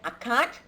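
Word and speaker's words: عقد: If you look at the spelling there, I spell it as UQUD, as uqud. However, we pronounce it as akad.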